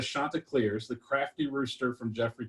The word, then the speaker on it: Chanticleers: in the game said the chandeliers uh but where the shanta clears the crafty rooster from